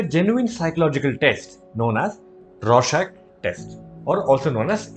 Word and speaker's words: Rorschach: It's named RORSCHACH, pronounced as RORSCHACH.